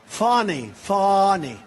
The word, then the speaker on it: Fani: All these local cases like Fani. It's spelled Fanny. It's spelled Fanny like your ass, right, Fanny? But when she became DA, she decided to add a little French, a little fancy.